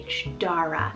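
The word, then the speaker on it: Darragh: side as well is the name dara so d-a-r-r-a-g-h dara now this one means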